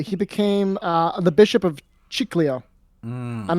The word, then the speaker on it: Chiclayo: He became the bishop of Chiclayo. I'm mispronouncing that. Chiclayo.